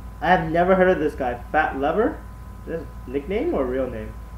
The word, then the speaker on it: Lever: Fat Lever, even though it's spelled like lever.